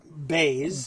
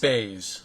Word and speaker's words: Boese: No, it's some very Americanized German. Okay. Mangled, some might say, but it would be pronounced Boese.